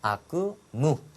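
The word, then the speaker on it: 悪夢: 악몽을 아쿠무. 발음이 짧다라는 거 정리해 두시고 무치우니 나떼루.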